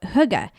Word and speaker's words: hygge: is for togetherness or Hugga and Huga is spelled h-y-g-g-e and I would have had no idea how to pronounce it but it tells you how in the book Thank you so hyga this is a little bit